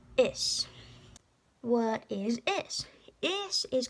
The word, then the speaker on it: is: Well, first of all, this looks like is. But don't say it like that, because there's no such thing as a Z sound in Irish. It's is.